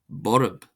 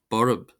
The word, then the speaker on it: borb: Then we have Borb. Borb. Borb. Borb. Meaning fierce or violent. This is pronounced as if it were spelled b o u r a b.